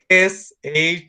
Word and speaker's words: should: It's pronounced should. The L doesn't sound in that part. And the OU sound is should. Should. Should. Should. The L doesn't sound. La L no suena ahí.